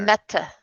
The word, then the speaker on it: Mette: Met. METTE. Pronounced Met like jet.